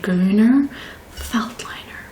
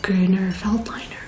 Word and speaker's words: Grüner Veltliner: I do think it's pronounced Grüner. Okay, so it's called a Grüner Veltliner.